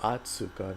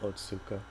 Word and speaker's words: Otsuka: Oh, Atsuka, not Otsuka.